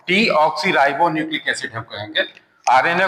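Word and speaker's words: deoxyribonucleic acid: RNA ribo न्यूक्लिक एसिड कुछ लोग इसको गलत प्रोनाउंस करते हैं डीऑक्सीराइबोस न्यूक्लिक एसिड that is wrong डीऑक्सीराइबो न्यूक्लिक एसिड हम कहेंगे आरएनए को राइबो न्यूक्लिक एसिड कहेंगे तो दो तरह के ये हुए।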